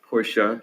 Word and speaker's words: Porsche: correct you on on the pronunciation of porsche is porsche since ipad so